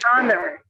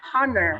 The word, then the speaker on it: honor: you feel like proud you say that it's an honor right you don't say it's a hunter all right so that's silent age that we learned today thank you these opportunities